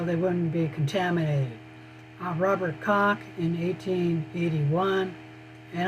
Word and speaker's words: Koch: Robert Koch in 1881, and I'm not pronouncing this correctly because that's a German name and the English don't have the pronunciation for this CH. There's a German sound. If anyone speaks German, you know what I'm talking about.